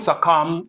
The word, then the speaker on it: succumb: It is silent. Don't succumb to fear.